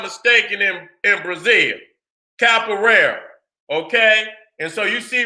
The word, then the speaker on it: Capoeira: Let me get that I want to pronounce it right. Capoeira.